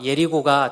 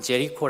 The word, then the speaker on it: 여리고: 제로 살렘 이라고 부르고 여리고 가 예리 보가 더 발음이 원화와 비슷한데 아 서양사람들은 j 코 라고 부르게 됩니다 어 예루살렘은 이 고도가